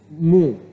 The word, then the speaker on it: mho: The unit of conductance is called mho. Okay? Mho, ohms is spelled backward. Mho, or reciprocal of ohm.